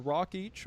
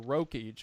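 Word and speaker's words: Rokeach: As mentioned, Milton Rockich, or Rockich, I've heard it pronounced both ways, was a social psychologist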